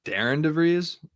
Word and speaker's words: Darian DeVries: the draft Daren de I heard it's Darren Dev not Darren Darren Darren okay that's gonna take some getting used to because it's not spelled like that at all so I mean people